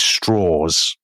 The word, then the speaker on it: Strauss: called Lewis well he's it's spelled Lewis Strauss but he always pronounces it Lewis Straws.